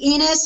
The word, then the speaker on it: Enos: and type in enus and my last name is spelled like enus Slaughter if you're a Cardinal fan or enus from The Dukes of Hazard e n o s you got me on